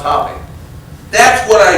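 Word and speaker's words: Hoppe: And then you might try Who's Willie Hop? National Billiard Champion, it's pronounced Hoppy.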